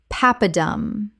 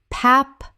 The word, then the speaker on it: papadum: Papadum. Common mispronunciation. Pap-a-dum. Correct pronunciation. Papadum. Three syllables with the stress on the first. From Tamil.